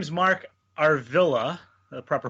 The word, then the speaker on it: Arvilla: listening out there well my name is Mark Arvilla the proper pronunciation Arvilla and i'm the founder and lead investigator for